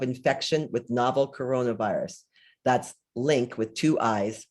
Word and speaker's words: LIINC: term impact of infection with novel coronavirus that's linked with two eyes pronounced link study one of the first covid